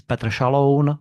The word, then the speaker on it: Petr Šaloun: My name is Petr Šaloun in Czech pronunciation, and the name Lukáš Tomášek is more complex because Lukáš is Czech name, but Tomášek is more Polish name.